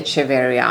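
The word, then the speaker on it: Echeveria: Now, about the pronunciation of cheevaria. I say it this way because the genus was named in honor of Atanasio Chevaria, a Mexican botanical artist back in 1828 by the French botonist Dondo.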